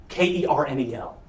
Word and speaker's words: Colonel: Colonel is spelled like Colonel. Kernel.